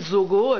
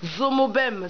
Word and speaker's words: Zomo-Bem: la radio Afri AF j'ai bien prononcer votre nom oui merci ça c'est important parce qu'ailleurs on dit Zogo j'ai dit zomobem c'est un nom à